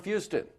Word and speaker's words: Fuston: And joining me today is Fuston, rhymes with Houston.